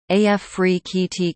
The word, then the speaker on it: Afrekete: work from home jobs pronounced AF free KEYT Capital One https colon